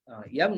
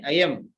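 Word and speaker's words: अयम्: Yam nahi, ayam. A is silent there.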